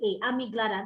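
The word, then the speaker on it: amygdala: slide so you might not but i can spell it out okay it's all here amiglata a-n-y-g-l-a-d-a amiglada that's the first filter in your child's brain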